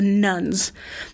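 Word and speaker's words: nones: nuns we're thinking of but the n-o-n-e-s the nuns these are the people who in asked in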